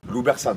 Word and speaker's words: Loubersanes: Loubersan, on le prononce comme ça.